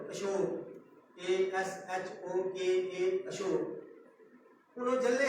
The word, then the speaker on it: अशोक: नहीं है, उसका मतलब प्रो है, अशोक ASHOKA अशोक। उन्होंने जल्ले है, उन्हें साड़ी भाषा के लिए वो जल्ले है, ये उनकी भाषा के लिए अस जल्ले, उनकी भाषा के लिए सारे जल्ले होंगे। उन्हें से अशोक का पढ़िया, उन्हें पढ़िया है उनकी कमी है,